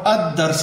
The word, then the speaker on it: الدرس: نطق ادا کیا ہے، لیکن الدرس الثالث کے اندر آپ دیکھ رہے ہیں کہ دال کے اوپر شد ہے، اور الدرس ہم نے پڑھا ہے، لام نہیں پڑھا یہاں پہ۔ الثالث میں بھی